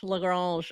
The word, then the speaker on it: Lagrange: Lagrange. I gotta say it with the French accent, and then we're fine. Euler Lagrange.